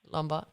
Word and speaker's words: Lombard: It's Lombard.